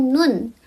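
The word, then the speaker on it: 눈: Huruf N kalau di akhir dia dibacanya N. Contohnya itu ada nun.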